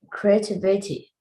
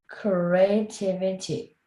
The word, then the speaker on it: creativity: Creativity. Creativity. Let's say it again. Say it. Create. Creativity. Yeah, create. Creativity. 5 syllables.